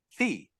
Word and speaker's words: phi: That's PHI, fee. But it's pronounced the same.